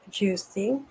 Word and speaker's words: Giusti: This is about Sharon Louise Giusti. It is an Italian pronunciation.